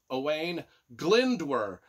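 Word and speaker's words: Owain Glyndŵr: pronounce any Welch stuff but it's owain o-w-a-i-n owain glindwer and I think and that's spelled g-l-y-n-d-w-r so away in glendor was a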